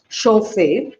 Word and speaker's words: chauffeur: So taken from the French word chauffeur, which means that is actually pronounced as chauffeur, which means to heat.